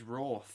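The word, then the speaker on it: Wrarth: But the W silent. Yeah, the Wrath. W silent. It's Wrath. It's Wrath Warriors and W is silent. I was saying Wraith.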